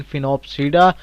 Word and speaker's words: Sphenopsida: ठीक है जी, S silent है, मीन फिनोप्सीडा।